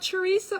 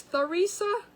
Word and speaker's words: Theresa: I'm saying her first, it's not Teresa, it's Theresa. Oh, I have to go back.